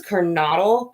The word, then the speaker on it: Kernodle: Xana, I think it was Kernodle, I believe is how you would have pronounced it, which is 20, when she was 20 years old.